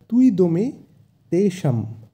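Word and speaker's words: ত্বিদম্: এখানে একটু লক্ষ্য করব তয়ের সাথে অন্তস্তীয় ব আছে, তাই এক্ষেত্রে সংস্কৃতে অন্তস্তীয় বয়ের উচ্চারণ হয় ওয়া, তাই এক্ষেত্রে তুই, তি কিন্তু হবে না, হবে তুই, তাই এক্ষেত্রে উচ্চারণটা হবে তুইদমে তেষম।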